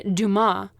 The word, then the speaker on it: Dumas: friends yeah that's why i'm assuming it's duma because they were french traders it's offensive um and there's other famous people with that same last name who pronounce it that way so they named it